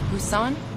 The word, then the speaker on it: Busan: Busan? Is this the correct pronunciation? That's right, and people were evacuated there.